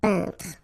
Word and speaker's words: peintre: So remember when you get this E-I-N together here, then you pronounce this un sound. So nasal in your nose. Un peintre.